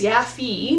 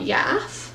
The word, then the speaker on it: Yaffi: jay knights review um somebody left a comment that i pronounced it terribly wrong apparently it's yaffy not yath um sorry about that